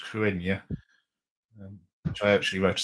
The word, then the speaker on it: Cruithne: This one, and it's spelled Cruithne, but I think it's pronounced Cruenya, which I actually wrote